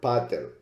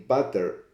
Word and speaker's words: pater: In pater, P-A-T-E-R, there's only one consonant in between. That would make the A long and the E short.